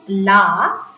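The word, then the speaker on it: là: which is pronounced as la, it means the. But LA with an accent, this is the accent grave. With an accent, la, the pronunciation remains the same, but the meaning is that.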